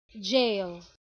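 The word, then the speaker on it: gaol: is right is now that word G-A-O-L is pronounced the same way as we do jail because it's the same thing, right? But it looks like in ye olden days it had a harder G sound.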